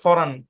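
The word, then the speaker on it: foreign: silent হ্যাঁ এখানে কিন্তু ই আই মিলে ফরেইন মানে লং এ সাউন্ড দিবে এরকম কিছু না এখানে হালকা আকারে সাউন্ড দিয়ে এন এর উপর গিয়ে পড়বে ফরান অরজিনালি আর কি কিন্তু অরজিনালিটা বাদ দেই আমরা যেভাবে বুঝবো সেভাবেই বলি ফরেন ফরেন কি উচ্চারণ ফরেন বুঝতে পেরেছেন আশা করি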